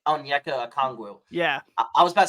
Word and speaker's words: Okongwu: Onyeka Okongwu. Yeah, I was about to say Onyensu.